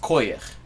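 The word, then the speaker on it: כוח: It's spelled the same way in Yiddish, in non-Soviet Yiddish, but it's pronounced koyach.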